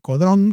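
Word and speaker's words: Caudron: Bueno, y y se si se anota en la escuela de del fabricante de aeroplanos eh Codrón, Caudrón se escribe en Francia.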